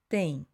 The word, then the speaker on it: têm: Vocês, eles ou elas têm. Vocês, eles ou elas têm. Now pay attention because the singular and plural has the same pronunciation.